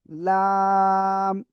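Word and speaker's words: لام: লাম। জিহ্বার আগার কিনারা উপরে মাড়ির দাঁতের গোড়ার সাথে লাগিয়ে এই অক্ষরটা উচ্চারণ হবে চার আলিফটা নিয়া। দেখেন, কফ কাফ লাম তিনটা অক্ষরে চার আলিফ করে টেনে পড়তে হবে।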